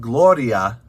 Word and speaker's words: gloria: of the letter d so if you said gloria with like a little d sound gloria gloria that would be closer than gloria so it's gloria tua